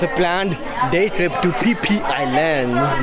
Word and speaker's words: Phi Phi: How do you pronounce that? It's not Fifi, guys. It's PP. PP Islands.